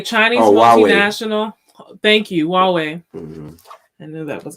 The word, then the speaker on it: Huawei: Howie is... Where's my mouse? There you are. A Chinese multinational... Huawei. Thank you, Huawei.